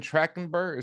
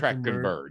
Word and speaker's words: Trachtenberg: Like, we're gonna get into it, but Predator Badlands, directed by Dan Trachtenberg. Is that am I pronouncing that right? Trachtenberg. Trachtenberg. Trachtenberg. I think it's Trachtenberg.